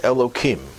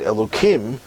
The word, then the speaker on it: Elohim: In fact, one of the names that we use for God is Elohim. I'm mispronouncing it because the real pronunciation has, instead of the kim sound, has a him sound.